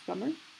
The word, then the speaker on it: plumber: plumber, un plombier, plumber, ça se prononce plumber, beast, bête, dragon, un dragon, princess, une princesse, queen, la reine.